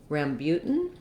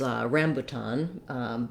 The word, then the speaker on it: rambutan: i thought it was rambutan but it's not it's rambutan with second syllable stress so the spelling is